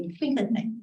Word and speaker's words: Wittgenstein: los lingüistas más conocidos, Wittgenstein, ¿se pronuncia así? Wittgenstein, sí, ya.